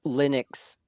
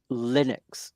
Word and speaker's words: Linux: I'm on board liquid even Linus to volds calls Linux Linux not Linux yes named after him he has his accent as well he he yeah it sounds like Linux when he was saying it um yeah a little